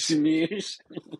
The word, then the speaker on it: smeuse: It's smoose. It is. Smoosh. Yeah, it's spelled SMEUSE. It's smoosh.